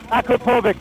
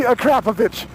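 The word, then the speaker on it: Akrapovič: And the other one was Akrapovic was what I always said. Yes. Oh, wow. And now you're pronouncing it correctly, Akrapovic.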